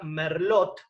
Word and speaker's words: Merlot: el salón en francés latte final no se pronuncia así que si yo tengo la palabra merlot que termina con té final se dice merlo esto es muy importante